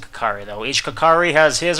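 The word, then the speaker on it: Kokiri: live here with me or kakiri I pronounce it kakari though each kakari has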